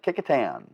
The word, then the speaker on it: Kecoughtan: on kecoughtan street yeah kecoughtan yeah look and see how it's spelled and you will have a fun time with that or the city of pocosin